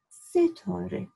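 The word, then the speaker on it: Setareh: So my daughter's name is, not star, the English pronunciation, Setore, where the word Tara comes from.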